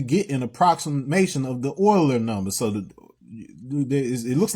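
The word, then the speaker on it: Euler: out you actually get an approximation of the oiler number so it looks like uler but it's actually pronounced Oiler so um that always that's already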